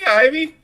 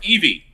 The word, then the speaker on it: Ivy: Hey, Ivy, how you doing? Or Evie. Every time, I know it's Evie, but it's spelled Ivy, and it makes me...